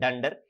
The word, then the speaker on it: dunder: double leading and trailing just pronounce it as dunder it will be easier for you because that's how python community people and who are familiar to python we pronounce in that way so i suggest